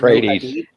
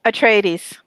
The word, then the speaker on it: Atreides: Paul, how do you pronounce it? Tradies. Atreides.